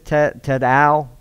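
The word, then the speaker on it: Tidal: And yes, it is Tadal, not like the hip-hop Tadal. Like I kept thinking, man, I can't get out of that. But that's how you say it, Tadal.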